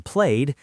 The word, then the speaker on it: played: And that ed has three sounds. T as in walked, d as in played, and id as in wanted.